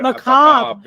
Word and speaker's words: macabre: Macabre. Yeah. Oh wow, macabre. That's how you spell it. That's appropriate. Yep, that is how you spell it. You spell it macabre, okay. but it's macabre.